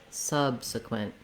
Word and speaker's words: subsequent: at the same time the word subsequent has first syllable stress so that means my sub syllable is longer than the other two and it has a